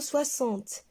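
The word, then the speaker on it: soixante: 60 livres alors ici on a le mot 60 et x se prononcent 6 merci pour votre attention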